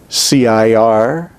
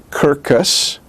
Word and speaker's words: circus: it s i r but in considering the word circus the second c is pronounced like a k c-i-r-c-u-s so it is not kirkus it's not cerseus it is circus but in hebrew it